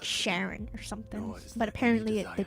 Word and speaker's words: Charon: It is Sharon. This is her work. Why did something pronounce it Karen? Are they just mispronouncing it?